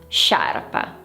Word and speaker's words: sciarpa: Be careful with the pronunciation scia sciarpa.